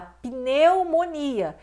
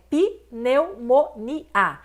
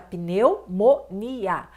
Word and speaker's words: pneumonia: A palavra pneumonia, você fala pneumonia. Então, muitos pensam que é pneumonia, mas esse P é mudo e está no início da palavra, junto com N. Então, fica pneumonia.